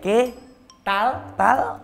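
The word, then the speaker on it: qué tal: Ke ke tal eh tal tal. Lidahmu masuk ke dalam, bukan menjulur keluar.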